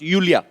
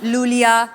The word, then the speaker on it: Iulia: Pronounce यूलिया। यूलिया। एंड the spellings are आई यू एल आई ए। सो आई I think you know I mean why I everyone is calling me लूलिया लोलिया बट लोलिया लोलिया